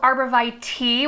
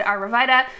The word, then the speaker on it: arborvitae: tater tot arbor vita you might hear them called arborvitae tea which i think is the proper pronunciation in our region we've always said aravida the botanical name is